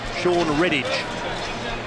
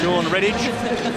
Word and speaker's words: Sean Redditch: Sean Redditch is what I'm told is the correct pronunciation.